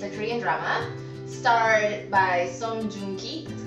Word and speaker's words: Song Joong-ki: Okay, so The Innocent Man is a Korean drama starred by Song Joong-ki, that's how you pronounce his name, and it's about Kang Haru,